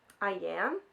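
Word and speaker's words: Iain: was We Spread by, I pronounced his name as Ian in my last video, and I don't think this person's name is his, I don't think it's pronounced Ian. I think it's Ian, because there's another I in there.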